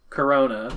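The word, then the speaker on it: Korona: state called womatic corona which is spelled with a k is pronounced as corona with a c the sun's atmosphere seen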